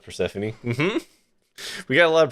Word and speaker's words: Persephone: Like, step on me rhymes with Persephone.